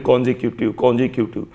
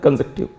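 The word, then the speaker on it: consecutive: अब आप नॉर्मली ये वर्ड लोगों को बोलते हुए सुनेंगे तो लोग बोलेंगे कॉन्जिक्यूटिव, लेकिन जो एक्चुअल प्रोनाउंसिएशन वो होता है कंजेक्टिव। आप कभी भी इसको चेक कर लें, जो एक्चुअल प्रोनाउंसिएशन होता है कंजेक्टिव।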